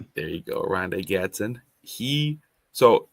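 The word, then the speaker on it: Oronde Gadsden: And then um yeah, for for the tight end for the Chargers, it's hard to pronounce his name. Aronda Gatson. There you go. Ronda Gatson.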